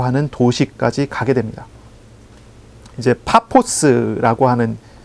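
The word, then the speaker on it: Paphos: 해안가에 있는 바보라고 하는 도시까지 가게 됩니다 이제 파포스라고 하는 발음인데요 파포스 지금 우리가 파포스라고 발음하죠 근데 이게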